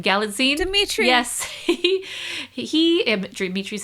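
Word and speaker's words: Galitzine: Galladine.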